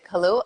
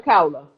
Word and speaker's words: Kaula: Is it Kalua? It's not Kalua. How do you pronounce? Oh, that's my friend Kaula.